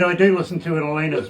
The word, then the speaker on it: Elena: calls me elena or alana or this but i thought i just let you know if it's elena like ellen with an a but anyway i have